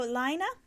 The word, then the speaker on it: Lino: magazine yay so lino you might have seen some people call this Lane magazine the correct connect the correct Norwegian pronunciation is lino if this was a French magazine it would be called Lane but it's not it's a Norwegian publication so it is called lino this contains if you're